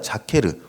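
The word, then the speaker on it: זכר: 네, 여기서 기억하게 하셨으니, 이렇게 번역된 히브리어 단어가 자케르 혹은 제케르, 이렇게 발음하는 단어입니다.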